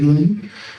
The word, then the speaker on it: Rama: And then I will uh in between I will pronounce Ram Rama as run because in northern India this is how they pronounce they remove the A with your Rahana is.